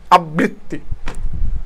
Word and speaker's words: আবৃত্তি: আবৃত্তি, এখন খেয়াল করো আবৃত্তি মানে ত দুইবার হচ্ছে, ত কিন্তু দুইবার, এখানে ব দুইবার না, ত দুইবার, এখন আবৃত্তি যেটা আছে আবৃত্তি, হ্যাঁ আবৃত্তি হয়ে গেছে।